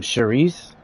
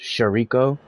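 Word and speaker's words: chouriço: Man, have you guys ever heard of um Shereice? Like when you read it on a label, it looks like it looks like it's pronounced sharo.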